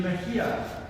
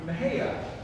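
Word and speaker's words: Mexia: even a little bit uncertain because of the pronunciation in Spanish it should be Mahia but if you're just passing through you might be Asia but astoundingly bathroom lady rather the local pronunciation is something else entirely Maha Maha is not a lovely place and there's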